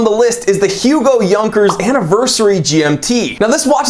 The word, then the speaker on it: Junkers: Now, Yonkers is a German company. You might pronounce it Junkers if you're a stupid American like me, but it is Yonkers, okay?